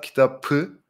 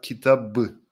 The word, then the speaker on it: kitabı: It's not kitabı, but kitabı with the b letter. Bu kitabı dün aldım. Bu kitabı dün aldım. So the p sound at the end of kitap becomes b.